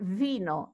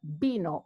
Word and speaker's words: vino: people will pronounce it vino no in Spanish the V and the B are the same they're pronounced B so you will have B no not vino but B know all the V and